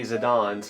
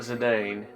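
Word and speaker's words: Zidane: I guess we already know how to say Zidon's, huh? Not Zedane. That's how I That's how I originally said it myself, too.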